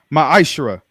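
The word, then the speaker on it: מעשר: chap chapter 3 8-10 means 10th in the Hebrew and it's pronounced maishra 10% of every penny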